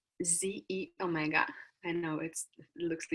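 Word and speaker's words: xEO Mega: to the last in industry yolk it's called ze Omega and now it looks a little different but that's how you pronounce that so with a proprietary blend of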